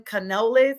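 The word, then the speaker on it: Canales: a head coach um Dan Canoles is how you pronounce his name he's 42 years old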